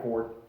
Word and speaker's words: Fjord: Yeah, Ford. It's Yeah. Ford, not Fjord. It's spelled like Fjord.